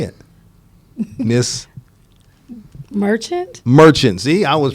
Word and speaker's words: Merchant: But it's Miss Monarch. Am I pronouncing that right? Yes. Say it. Miss Merchant?